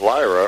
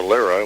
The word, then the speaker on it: Lyra: reason they're familiar with Lyra or Lira whichever way you want to pronounce it is they are lyrion